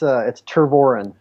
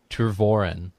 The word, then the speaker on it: Tervooren: How do you pronounce it exactly? It's TERVOOREN. TERVOOREN. Yep, you got it. All right, cool. Today on the show, we have TERVOOREN.